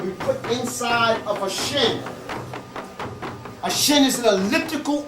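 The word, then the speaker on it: shn: It's a shin. S-H-N. If you put a little E in there, you can't pronounce it. A shin.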